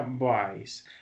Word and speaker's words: buys: Este pues, se pronuncia buys. Es como si esa U fuera una A.